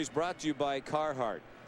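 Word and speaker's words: Carhartt: Today's pitching summary is brought to you by Carheart or as we say in the Commonwealth, Kahhata.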